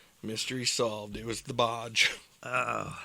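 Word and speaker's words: Boj: It was the Bodge. Oh, Is that how you say it? Bodge. the Bodge, yeah, because her name's Boy, Yeah. but like originally, like it was B-O-J Boy, Oh, gotcha.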